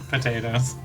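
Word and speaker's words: Pot8os: horse it was a racing horse named pot and then an eight O's in a row uh pronounced Patos potatoes is that true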